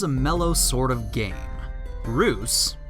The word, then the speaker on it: Reus: mellow sort of game Bruce pronounced truce a Dutch word for giant is a god game